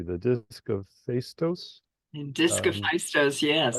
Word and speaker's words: Phaistos: Your book actually explains if I pronounce it correctly, the disc of Phaistos. And Um, Discophistos, yes. Phaistos, and the little saucer image that's right there.